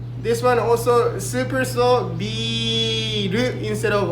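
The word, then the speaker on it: ビール: This one also super slow, biru instead of R. There's no Japanese R and L in Japanese language. So forget about L and R. Just go ru, like very strong. Biru.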